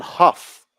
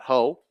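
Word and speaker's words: Hough: As a correction, it is Sam Huff, the starting pitcher, not Ho. Spelled H-O-U-G-H. It is pronounced Huff, I am being told.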